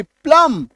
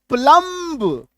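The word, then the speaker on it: plumb: एल ओ एम बी प्लम बी को काटिए सी आर यू एमबी बी को काटिए क्रम सी एल आई एम बी बी को काट दीजिए। क्लाइंब अदरवाइज क्या पढ़ेंगे? क्लाइंब क्रमब प्लंब है ना?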